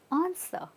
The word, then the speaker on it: answer: answer or answer it's answer okay so we're not saying ER we're saying answer keep it subtle right so let's look